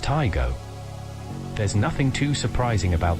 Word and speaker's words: Taigo: it was first launched taigo is pronounced taigo there's nothing too surprising